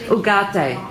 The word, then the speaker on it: Ugarte: Moving around, Ugarte. I love saying that word. Isn't it a wonderful name? Is that how you actually pronounce it? Ugarte.